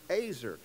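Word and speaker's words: עזר: it looks like easier but it's not it's pronounced azer it means helper or help mate when he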